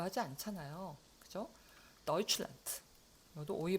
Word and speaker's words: Deutschland: 요거 데우츠라고 읽지 않는다. 우리가 데우칠란드라고 하지 않잖아요. 그죠? deutschland.